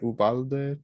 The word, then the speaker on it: Uvalde: How do you pronounce it? Uvalde, Texas.